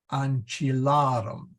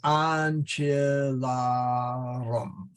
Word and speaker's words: ancillarum: And since we put that arum, and that has a long A, the so we go to the last syllable, you never accent the last syllable. Okay. So then you go to the syllable before, and we see that it's long, and that's where the stress goes.